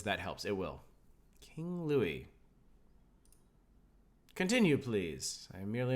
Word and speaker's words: Louis: Usually you don't pronounce S at the end of words. That helps. It will. King Louis.